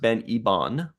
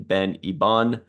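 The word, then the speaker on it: Ben Hibon: Anyway, so this is directed by, I believe it's pronounced Ben Ibon, the French pronunciation, Ben Ibon, written by Kevin and Dan Hageman.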